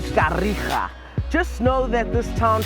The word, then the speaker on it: Kariega: It's actually Uitenhage, but now we pronounce it as Kariega.